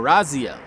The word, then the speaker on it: Raziel: It's Raziel, okay, or Raziel is how you pronounce it. It would sound like a Z, but some put an S.